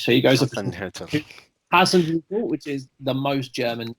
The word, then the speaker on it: Hasenhüttl: Oh God, who wants to take a stab at pronouncing this name? The Southampton manager, Hasenhüttl. Thank you very much. So he goes up against Hasenhüttl, which is the most German name to ever be German.